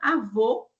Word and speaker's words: avô: Então, avô média alta, avó é média baixa.